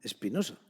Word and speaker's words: Espinoza: por el filósofo Espinoza Espinoza que se escribe con z pero que como era de origen judío sefardí de origen español ellos pronuncian Espinosa Y entonces por qué